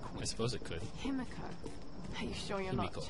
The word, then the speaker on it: Himiko: It is Himiko. There you go. He pronounced it better.